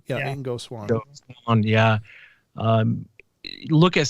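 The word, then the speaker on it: Ingo Swann: I mean, it was really, how do you pronounce his name? Ingo? Ingo. Yeah. Ingo Swan.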